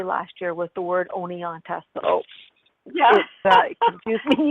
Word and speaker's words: Oneonta: That was the hardest thing I learned to say last year, was the word Oneonta.